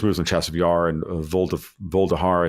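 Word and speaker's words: Vuhledar: So there's no coincidence here that they're making serious moves on Chasiv Yar and Voldahar, I think is the way you pronounce that one city, and a couple others.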